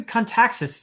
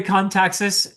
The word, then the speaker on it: Kontaxis: And for my very special guest today, it's Gregory and Gregory Kaxis. Did I pronounce that correctly? I I forgot to ask you actually. Actually, it's very correct. Gregory Kaxis, author of The Return of the Knights.